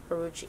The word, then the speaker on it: Huarache: Huarache.